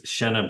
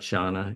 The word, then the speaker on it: Shenna: It's Shenna Bellows, which is, it's not Shauna, it's with an E.